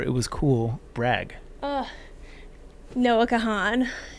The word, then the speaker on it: Kahan: was cool brag uh Noah Kahan it's a it's like a music guy he plays music Noah Kahan no well I guess his last name is Khan that's how it's pronounced it's it's spelled you